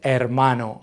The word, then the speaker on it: hermano: is going to beo note the H is silent we just ignore it we say hermano can you say it